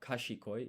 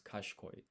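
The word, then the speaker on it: 賢い: By the way, this is she, but you don't pronounce the I here in she, so it's not kashikoi, it's kashkoi.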